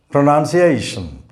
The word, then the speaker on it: pronunciation: of pronouns is pronunciation this word has five syllables and the fourth syllable comprises only one vowel letter a the letter a here represents the sound a and this syllable is a pronunciation this i o virtually remain silent in british english pronunciation and if you cannot